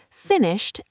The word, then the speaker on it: finished: Finished ends with a t sound because the sh is unvoiced. Finished. Avoid saying finish it with an extra syllable.